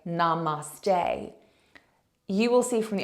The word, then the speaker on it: Namaste: them out afterwards that a lot of people are putting the emphasis on the end of the word so Namaste is the